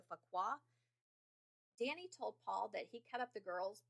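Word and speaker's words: Fuqua: paul and i'm sure i'm saying his last name wrong it's f-u-q-u-a so fakwa danny told paul that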